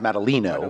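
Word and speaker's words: Madaleno: question to say that I actually prefer my name pronounced Maddalena but that's a quick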